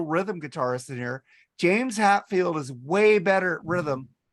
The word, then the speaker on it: Hetfield: Hatfield. Huh? Hatfield. What am I saying? Say his name wrong? Hatfield and the McCoys. What am I supposed to say? Hetfield.